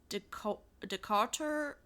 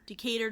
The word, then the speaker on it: Decatur: So, the first location opened on November 19th, 1980 in Decarter. Dart Decar. She's in Decator. Decatur, Georgia. Yeah, I think that's how you pronounce it.